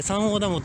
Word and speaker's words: 山王ダム: 、まあ、山の王と書いて三王ダムと読むんですけ